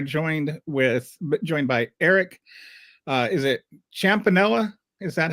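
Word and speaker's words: Champnella: Is it Champanella? Is that how you pronounce it? Champanella, just how it's spelled there.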